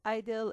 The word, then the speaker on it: I-DLE: And yes, I-DLE is technically the Korean pronunciation for the group name.